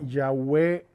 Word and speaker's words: Yahweh: Me parece que en hebreo suena más bien Yahweh que Yahvé, nosotros decimos Yahvé.